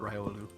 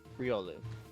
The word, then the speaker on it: Riolu: informing him that the 90 of the people I know call it call it raiolu yeah same ninety percent of people call it Riolu but it is technically pronounced real Luke who originally named it pronounced it wrong I like that dude